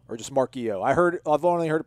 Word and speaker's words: Marchiol: I think it's Marchio. I don't know if the L is silent or not. It could be Marchiole or just Marchio.